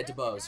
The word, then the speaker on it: Du Bois: I think it's Du Bois, actually. Yeah, Du Bois. You pronounce the S.